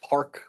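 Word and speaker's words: Parq: And that's pronounced Park with a Q? Yes.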